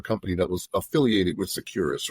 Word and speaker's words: Securus: Securus, like secure us.